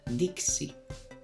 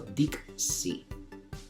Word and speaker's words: dixi: Por lo tanto, la X se pronuncia KS. Esta palabra sería dixi. Como veis, he pronunciado dixi, la K y la S.